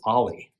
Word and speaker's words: o11y: Or observability, where it's O11Y, but it's pronounced Ollie.